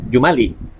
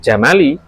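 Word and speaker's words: جُمَل: H kulla jumlatin minal jumali. Awak. Oh jamak dari jumlah. Jumlah. Jangan bacanya minal jamali. Jam apa? Onta. Iya. Jumal.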